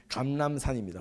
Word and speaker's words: 감람산: 감람산, 이 발음 되게 어려운데요. 감람산입니다.